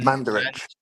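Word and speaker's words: Mandarić: um was the chairman Mand Mand Mandaric. Is that how you say it? um Manderich Manderich and um your relations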